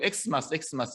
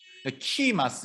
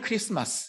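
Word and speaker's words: Xmas: 때도 이렇게 엑스마스 쓰고 엑스마스 이렇게 읽는데 이것도 사실은 크리스마스 할 때 요 X도 영어 X가 아니라 요겁니다. 요거 헬라어의 키 발음 크리스토스 그리스도를 얘기하는 거죠.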